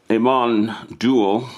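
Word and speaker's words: Amon Düül: is an album by Aman duel I think that's how you pronounce it it's a double album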